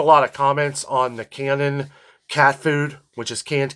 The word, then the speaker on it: Canin: We don't get a lot of comments on the Canon cat food, which is canned cat food. You can find it at PetSmart. They sell it on Amazon. And it's Canon, not canine.